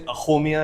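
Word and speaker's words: Axomiya: You say Ahomia and it's AXOMIA.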